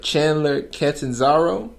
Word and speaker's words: Chandler Catanzaro: And I know I'm about to mess his name up, but Chandler Catanzaro.